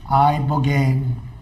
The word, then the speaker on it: Ibogaine: Ibogaine. Remember the name. Is that pronounced relatively properly, would you say?